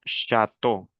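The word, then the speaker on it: château: Por ejemplo, la C hs con la A se pronunciaría sha. Luego viene una T. E a u. ¿Cómo dijimos que se pronuncia e a u? O. Una o. Entonces yo digo chato.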